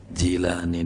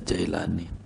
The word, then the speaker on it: Jilani: Di Baghdad enggak ada Jai itu, adanya Jilani di Baghdad itu, enggak ada Jailani.